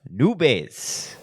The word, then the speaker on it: Nube: Miss Nubes. After months. You said Nubes? It's not how you say your last name. Nubes, right? There's no S. Nube? Oh, yeah. Just Nube? Nube? Now I know.